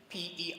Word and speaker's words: perplexed: The ED in that word takes the sound T, the past tense marker. So the word again, P-E-R-P-L-E-X-E-D, perplexed.